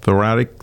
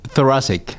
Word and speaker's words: thoracic: Thoracic. Thank you. I know I was saying it wrong. Thoracic. I got to think Jurassic Park.